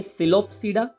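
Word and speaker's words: Psilopsida: Pteridophytes के कुछ क्लासेसिस हैं, तो आपको यहाँ पर जो भी दिखा है वो सारे क्लासेसिस हैं, जिसमें देखिए सिलोपसीडा पी साइलेंट रहेगा, जिसका एग्जांपल है सिलोप्टम पी साइलेंट रहेगा।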